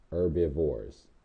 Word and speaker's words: herbivores: okay they're also called herbivores the H is silent herbivores plant eaters if you